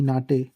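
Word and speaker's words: Naht: German में कहेंगे जमा के लिए, सिलाइयों के लिए डी नाटे। ठीक है, ये बिल्कुल हा जो है इधर साकन है, साइलेंट है, और नाट पढ़ेंगे, एनाटे की आवाज़ निकलेगी, हाँ की नाट नहीं पढ़ेंगे, नाट।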